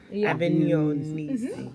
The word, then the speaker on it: Avignonesi: So, first yes, question: how do you pronounce this? Avignonesi. Oh, There is Avignon. G and is N. Yeah. Avignonesi.